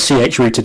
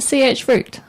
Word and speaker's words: chroot: kind of like a CH-rooted environment, but implemented differently. Do you pronounce it CH root? I always said chroot. Yeah, I say CH root.